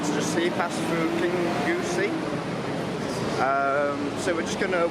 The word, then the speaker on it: Kingussie: So we're at Kingussie station here, or it's actually Kingussie it's pronounced, we found out yesterday on ScotRail 170.